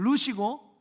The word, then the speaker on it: 룻: 지금 제가 말하고 있는 이 룻기에 나오는 룻은 그러니까 룻이고 롯은 창세기 19장에 나오는 아브라함의 조카의 이름이에요.